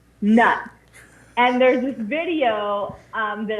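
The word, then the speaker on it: Knut: And one of the forms of currency they have is a nut, and it's spelled K-N-U-T, nut.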